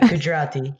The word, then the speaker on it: Gujarati: and you told me before that you speak gujarati i hope i pronounce it well right gujarati yeah it's a it's a it's a language